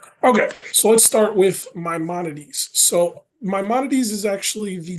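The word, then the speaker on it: Maimonides: So, let's start with Mymones. So, Mymones is actually the name of the hospital. It is pronounced Mymonades.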